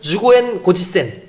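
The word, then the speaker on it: 十五円五十銭: 그러니까 그 사람들을 구별해내는 방법이 뭐였냐면은 일본말로 15엔 50전, 요거를 이제 하면은 주고엔 고지센 이렇게 얘기하더라고요. 주고엔 고지센. 이걸 해보라 그래요. 근데 이게 한국 사람이 잘 못 따라하는 발음이래요.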